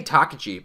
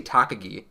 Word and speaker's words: Takagi: japanese names um and i do feel like they pronounce like takachi wrong i say takaji but they say takagi and maybe i just i've been hearing it wrong all these years i don't know but i